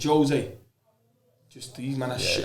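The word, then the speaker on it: José: Wherever you pronounce it, I know it's not the Argentinian way. It's the Portuguese way, but Jose.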